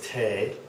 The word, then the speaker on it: T: This one is Tay, like T-A-Y, Tay.